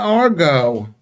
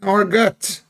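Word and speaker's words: argot: Um, it says Argo and Argut. Both are considered correct, but Argo is more common and the pronunciation more often favored in English.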